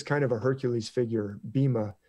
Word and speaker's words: Bhima: of a Hercules figure Bhima it spelled me my bhi MA they usually pronounce a beam but you can see